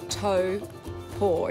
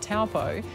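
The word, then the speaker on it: Taupō: had for Annika before I found out more tow pour is that correction you did really well so far yeah is the correct emotive pronunciation and I came here everybody said it's not taupo it's tow port hopeful that's how you pretty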